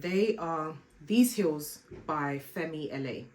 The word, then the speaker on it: Fenty LA: And they are these heels by Fenty LA. Correct me if I'm pronouncing them wrong. I don't think I am, because the LA stands for Los Angeles. I've heard some people say Femila, and I'm like, oh, okay.